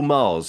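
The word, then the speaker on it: Magrs: It's Paul Mars, isn't it? But it's Mars. Yes. But it's spelled Maggas, isn't it?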